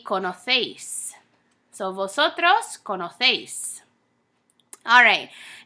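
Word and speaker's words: conocéis: kono seis in Spain so in Spain we have what's called distinction when you have AC e or C I or the letter Z you're going to pronounce it kind of like a th sound so kono seis how we would say it in Latin America in Spain would be kana phase so vosotros kono face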